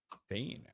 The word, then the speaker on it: Bain: Bain.